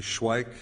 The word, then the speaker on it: Schweich: opportunity to testify today my name is Schweich not the first to mispronounce don't worry and I'm the director of